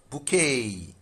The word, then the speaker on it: bouquet: So this T is silent bouquet.